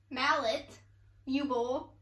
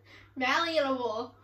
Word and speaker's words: malleable: mallet you bowl no you don't say mallet you just said mala like mallet it's like bao like how you say it you like how you say the first part of mallet mallet you bowl no you're saying you bowl it's mallee a bowl malleable there's no t i want you to